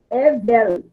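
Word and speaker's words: הֶבֶל: Evel. Isso, Evel. A acentuação está aqui na primeira sílaba, né? Evel. Evel, com um som de V de vaca.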